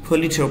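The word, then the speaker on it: Pulitzer: times जिसमें चार दफा पुलिस चिढ़ इसे वैसे पुलित्जर प्राइज कहते हैं यह पुलिस पुलिस वर्दी साइलेंट होता है चार दफा जीता था इस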